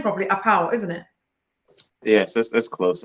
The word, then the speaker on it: Appau: is have I pronounced your name probably a power isn't it yes that's close enough the dependent uh where people are from they say but I pronounce it oh apparel because you know that there's a